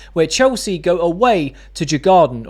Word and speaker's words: Djurgården: This Thursday is the first leg of the U away Conference League semi-finals where Chelsea go away to Jagard or Yordon is I think how you pronounce it.